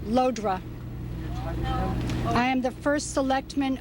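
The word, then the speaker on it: Llodra: My name is spelled L-L-O-D-R-A, pronounced Lodra.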